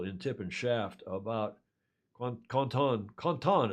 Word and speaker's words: Quentin: It was a very nice article in Tip and Shaft about Quentin, as it's pronounced in French, Quentin Delapierre, who may come out of this in the top three.